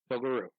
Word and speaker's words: Pilgaroo: So Pilger is Pilger, mm-hmm. and then Roo is Ruh. Right. Pilgaroo. Yes. It's said as 1 word, but it's 2 words.